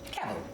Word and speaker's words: Cavill: It's pronounced travel. Cavill.